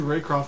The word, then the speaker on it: Raycroft: Hey dude, I was looking through my binder and I noticed all my Andrew Raycroft cards were missing.